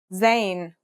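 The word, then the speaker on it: ز: a DOT on top in terms of pronunciation you say it just like the English Z as in zebra or Al jaaz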